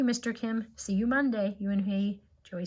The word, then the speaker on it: Unhei: "Yes, it's pronounced Eunhei.